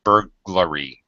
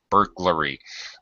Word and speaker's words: burglary: really not supposed to that's not correct it's burglary burglary but it's well darn it it's just easier